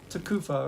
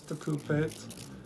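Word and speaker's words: תְּקוּפָה: familiar with is the tekufah, according to Masoretic pronunciation. I pronounce this as taqupayt, and that has the tau ending in that particular text that I cited.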